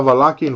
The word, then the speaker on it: Wallachian: But Wallachian, by the way, with V, that's how we pronounce it. Am I a Wallachian warlock?